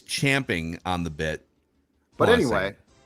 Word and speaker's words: champing: it's it's spelled Champion but I believe it's pronounced chomping most people say chomping like ca I know OMP as if you're chomping jumping out of it incorrect it's champing on the bit but anyway Champions at the